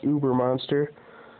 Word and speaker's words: Ubermonster: Right here it says how to pronounce ubermonster. If you can read it. Well, you can't. Pronounce O-O minus B-E-R. Ubermonster.